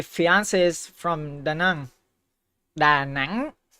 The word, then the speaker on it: Da Nang: Da Nang? That's the right way to say it.